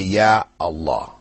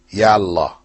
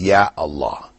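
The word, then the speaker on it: يا الله: But when you put that article or particle, Ya, before Allah, you still say, Ya Allah. You don't say, Ya Allah. Yeah? People might mispronounce and say that, but the correct way is Ya Allah.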